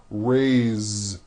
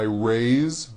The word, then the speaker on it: raised: a bit unusual because even though it is spelled with an S it's pronounced with a voiced Z raised so we say I raised with a voiced Ziya